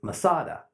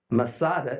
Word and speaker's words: Masada: ascend every year is Masada Masada is merely a Roman way to pronounce the Hebrew word met sudah fortress high